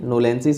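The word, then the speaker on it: knowlesi: नोलेंसिस यहाँ पर के साइलेंट होता है, तो इस तरीके से होता है।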